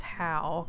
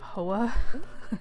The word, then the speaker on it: Hoa: a homeowner's association no his name is howe i believe is how you pronounce it um instead of hoa which would make more sense but whatever now we